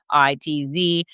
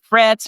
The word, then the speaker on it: Fitz: spell it out it's fi TZ sometimes people say Fritz and I'll say no there's no R it's just Fitz like Fitzgerald or Fitzpatrick but none of the ending Parts just the fits so